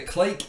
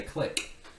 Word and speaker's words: clique: connected with each other it's pronounced a clique in this context often in the mathematical problem but I think in social sciences they often seem to say click yeah but either way clicks clicks same thing now so here